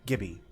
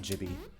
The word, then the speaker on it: Gibby: litu throws at Mario hard G it's the name of the fat kid from I car okay jiby Gibby Gibby not jibby Gibby I was thinking giblets